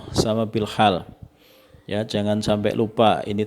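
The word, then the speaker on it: بالحال: Kadang-kadang kalau teman-teman tidak tahu tentang bahasa Arab, itu bahasanya metode dakwah bil al lisan, bil al qalam, bil al hal gitu. Jadi ini bacanya bil lisan, bil qalam, dan bil hal. Ya, jangan sampai keliru.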